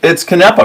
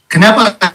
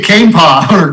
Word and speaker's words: Canepa: It's Canepa, right? Canepa. Yeah, you've got it right. That's very rarely pronounced correctly the first time. Great. It's usually a cane paw or Canepa, but you got it perfect.